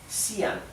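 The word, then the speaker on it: Xi'an: por la UNESCO bien sian bien ya saben entonces que la x se pronuncia s sí la y se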